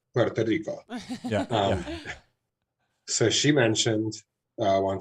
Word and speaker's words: Puerto Rico: It's funny that you mentioned Seattle, because actually my ex, who I brought up earlier, from Puerto Rico, and there I go saying it wrong again, Puerto Rico.